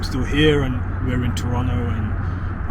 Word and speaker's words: Toronto: here and we're in Toronto and I've started pronouncing it like that now forgotten about the second te um and you know